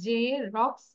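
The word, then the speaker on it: Xerox: আর জেরক্স machine এই যে আমরা এক্সি এটাকে উচ্চারণ হবে জেরক্স machine clear okay miss okay so right ইট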